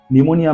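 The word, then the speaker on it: pneumonia: time P is silent निमोनिया में एन से पहले पी दिया गया है that is बाय P silent है ये हमारा फर्स्ट रूल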